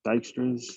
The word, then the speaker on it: Dijkstra's: Dijkstra's algorithm, pronounced Dijkstra's, was created by Dutch computer scientist Edgar W.